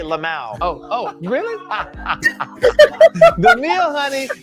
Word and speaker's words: LMAO: Is that how you say it? You actually say Lamau.